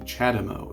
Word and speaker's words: CHAdeMO: And the next plug we're going to talk about is the CHAdeMO, is how it's pronounced.